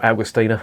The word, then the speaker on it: Augustiner: Augustiner, or Augustiner as it's pronounced in German, is one of the oldest breweries in Germany.